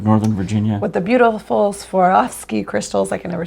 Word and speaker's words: Swarovski: It sounds like you're stumbling over it, but that's Swarovski. Swarovski. It does, but that's actually the correct pronunciation.